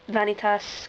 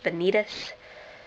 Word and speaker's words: Vanitas: up my event uh I pronounce vanitas because it's the Latin pronunciation the Japanese pronunciation is Benitez uh because their whole crazy uh grammatical schemes with their eyes um yeah I could